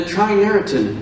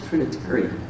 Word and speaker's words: Trinitarian: The Trinariton. What is this? I go, show me the word. No, that's Trinitarian.